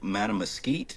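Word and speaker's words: Mattamuskeet: It is the largest they go to winter in Hyde County in these huge fields and they have le uh Lake Matamosite is how you say it and is this huge wildlife refuge and there are just thousands of swans, right?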